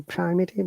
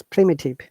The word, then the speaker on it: primitive: Okay, I knew primitive, but it's wrong. It's primitive. Primitive.